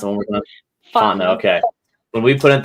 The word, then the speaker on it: Fontenot: And you know, I remember when we put in at below Berwick at the Jesse Fontenot, or how do you pronounce it one more time? Fontenot.